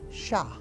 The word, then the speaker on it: sha: or sah and um sometimes it's it's when it's used it's used as S without the H sound but generally it's used with a h sound in it Sha Sha the sh sound sha now in one case